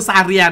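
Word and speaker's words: Zarya: โอเค เก็ด และ เก็ ะ อ่าน ว่า คือ ซาเรีย เนาะ โอเค นะ คือ ชื่อ แต่ ละ ตัว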